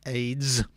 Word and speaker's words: AES: is surface acoustic wave AES pronounced AIDS is a angularly dispersed